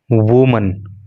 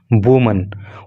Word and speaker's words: women: ऐसा इसलिए क्योंकि ये बहुवचन है, WOMEN। जब WOMEN होता है तो उसको वीमन बोलते हैं, और उसका अर्थ होता है एक से अधिक महिलाएं।